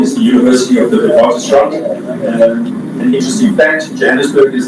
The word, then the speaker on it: Witwatersrand: be Whitewater Ridge, but in the Afrikaans language it's pronounced as Witwatersrand, and this is the University of the Witwatersrand.